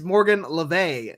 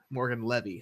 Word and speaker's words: Morgan Le Fay: And it's Morgan Le Fay, according to Kelsey Magnolia, not Morgan Levy.